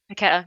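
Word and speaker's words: Paquetá: Oh my God, how do you pronounce his name? Paqueta.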